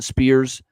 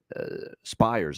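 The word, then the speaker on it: Spiers: Carson Spears here for the Spires, I believe, actually is how you say it.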